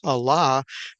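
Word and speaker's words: עלה: and so here is a word that is pronounced Allah that means to ascend to go up to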